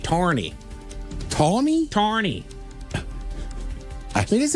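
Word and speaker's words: Tawrney: Tawny, t a w r n e y, tawny. Tawny? Tawny. I mean, is it tawny like a drink or something? mean? Irish? I have no idea. Massachusetts? I believe they'd say it like tawny.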